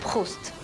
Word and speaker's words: Proust: it's pronounced Proust.